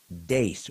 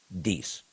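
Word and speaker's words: Deace: So please welcome Steve Dace, or as he likes to mispronounce it, Deese. But I call him Dace because I know he prefers that.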